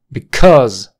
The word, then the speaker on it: because: vamos con la última Because Because la sílaba tónica la sílaba tónica está en cuse cuse es una shua con acento cuse cuse Because Because